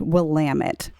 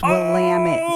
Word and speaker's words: Willamette: that if you were in Oregon it is pronounced Willamette it's Willamette damn it why all right away but what